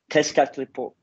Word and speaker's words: Tezcatlipoca: more about the figure of, I'm going to pronounce it wrong, Tezcatlipoca.